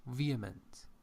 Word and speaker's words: vehement: I I don't know did you say vehement yeah we don't have H vehement H is not pronounced yeah for example we